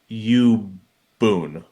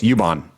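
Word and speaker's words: Yubol: Arpachaya Ubun. So close. Ubon. So that L, just like in Geno's last name, is an N sound.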